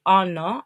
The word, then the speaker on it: honor: Symbolism, the cake, the candle symbolize love, celebration, and the wife's effort to honor, si no pronuncia la H, her husband.